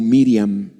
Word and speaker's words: Miriam: pero dios eligió a maría que en el nombre original se pronuncia como miriam dios vio el corazón